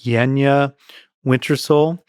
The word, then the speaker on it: Yanjaa Wintersoul: Her name, I think, is pronounced Yenya Wintersole.